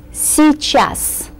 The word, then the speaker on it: Сейчас: Сейчас. By the way, these 2 letters give us only one E sound. Сейчас. We can make it a little shorter in pronunciation than it looks on paper.